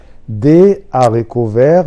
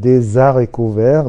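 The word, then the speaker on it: haricots verts: يا ريت كل الناس تنطق الكلمه دي معايا، دي اريكو فير، مش هينفع نقول دي زاريكو فير لان الاش هنا من غير الدخول في تفاصيل ممنوع ربطها مع اللي قبلها لانها بيسموها اش اسبيري، برضو مش ضروري التفاصيل، لكن الفاصوليا الخضراء دي الاش بتاعتها مش هنربطها.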